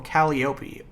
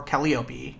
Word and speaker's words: Calliope: And Ghost Urania is searching for Calliope, or Calliope, depending on how you want to pronounce it.